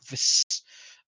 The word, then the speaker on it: Vis: There's a pronunciation of his name that is V instead of Viz, because it's like Vis with two S's. In fact, I think is what they keep saying. It is like Vis.